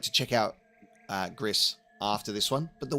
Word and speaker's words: Gris: Uh so I am aware that this studio did the game uh Gris Grease, however you want to pronounce it. GC. I'm pretty sure it's Gris.